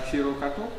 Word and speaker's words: HiroGato: And you started HiroGato, and I learned that I'm like not pronouncing it correctly, so how would you pronounce it? HiroGato.